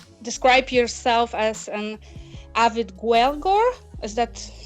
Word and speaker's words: Gaeilgeoir: How would you pronounce it differently? Yes, Gaelic-or, I would pronounce it as.